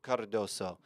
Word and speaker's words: Cardoso: men's national team midfielder Johnny Cardoso. You got to put the inflection in the roll your R's, Cardoso.